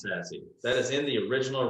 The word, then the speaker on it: SASE: server service edge so it's definitely pronounced sassy that is in the